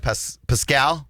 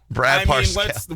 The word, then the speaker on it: Parscale: I always say his name wrong. Brad Parscale. Parscale. There's an R in there. Parscale.